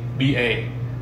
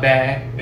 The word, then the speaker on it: ba: it means three right pretty easy ba not bad it's bi all right so vietnamese